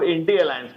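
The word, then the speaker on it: I.N.D.I.A.: नाम ले रही हैं, इसको इंडी अलायंस कहिए, क्योंकि लास्ट वाला जो ए है वो अलायंस है। तो आप इंडी अलायंस है, ये लास्ट वाला जो है that is called for अलायंस। तो इसका प्रोनाउंसिएशन ही इंडी अलायंस बनता है, पहली बात।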